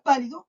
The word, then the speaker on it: pálido: Por ejemplo, en la palabra pálido, yo tengo la sílaba tónica, la que pronuncio con más fuerza, que es pa, y después viene lido. Pálido. ¿Se dan cuenta que yo marco más la voz en pa y en lido no tanto?